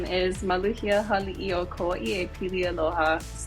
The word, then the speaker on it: Maluhia: My full full name is Maluia Halo Koa.